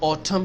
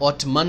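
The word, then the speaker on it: autumn: Summer, गर्मियां, winter, सर्दियां, spring, बहार, ऑटम, खजा जब पतझड़ होती है, पत्ते गिरते हैं तो उसको ऑटम कहते हैं। ऑटमन नहीं कहते एंड साइलेंट है।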